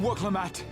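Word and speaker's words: Wuk Lamat: Come, Woklamat. Or Klamat. So that's Right. how you pronounce it.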